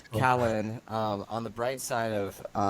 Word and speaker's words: Kahlon: I was saying Kahlon. It's It Callan? Callan, Yeah, Callan, yeah, Callan, yeah. Callan, Callan. Okay. Yeah, I'm not gonna mess that one up again. So, No, it's cool. Callan, on the bright side